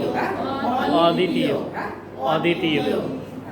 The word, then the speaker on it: অদ্বিতীয়: হবে না, বফলার উচ্চারণ হবে না, যে বফলার উচ্চারণ হবে না। দ্বিতীয়, তাই না? দ্বিতীয়। এবার আমি লিখলাম, সামনে লিখলাম অ। হ্যাঁ? অদ্বিতীয়, হ্যাঁ?